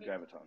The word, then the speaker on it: Graviton: Graviton.